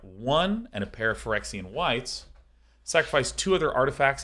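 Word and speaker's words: Phyrexian: the line cutting through it this is one forexian white is how that is pronounced two Francine whites and one um this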